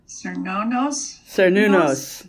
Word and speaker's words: Cernunnos: And then the Celts, there's that funny name you have problems pronouncing. Want to give it a try? Cernunnos.